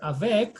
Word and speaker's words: avec: Do you pronounce letter T? A consonant is only read except the word avec. Avec, this one you say avec.